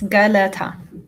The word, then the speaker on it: Geleta: So in this space today, I believe that Sister, is it Gelete or Gelete? I want to say it right. It's Geleta. Geleta.